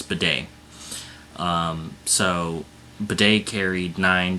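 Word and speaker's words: Badie: I'm hearing is how his last name is pronounced I thought it was I thought it was batty but apparently the commentators did not get it wrong yesterday's in yesterday's game it's Beday um so bedet carried nine times for 70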